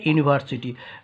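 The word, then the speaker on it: university: preposition তারপরেরটা হলো এ ইউনিভার্সিটি যদিও ইউ ভাবেল তবুও যেহেতু এর উচ্চারণ ইউ দিয়ে শুরু তাই এর পূর্বে এন না বসে এ বসলো ঠিক আছে আচ্ছা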